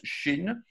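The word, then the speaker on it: ש: s'approcher de la fin voici une lettre qui se prononce chine est en fait une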